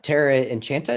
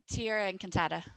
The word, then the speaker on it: Tierra Encantada: So talk a little bit about the company you have, Terra Enchanta. Is that how you say it? Tierra Encantada.